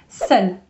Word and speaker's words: seul: Then, could be sad, seul. Seul with a E if it is feminine, but same pronunciation.